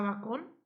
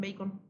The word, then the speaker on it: Bacon: vas a pensar Sí de hecho muchos le dicen bacon Bueno nos habla del